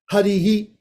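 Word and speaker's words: Hariḥ: Harihi, short. Harsva. Harsva means short. So now we've got short swaras. Harihi. There's no dirghas here. There's no long.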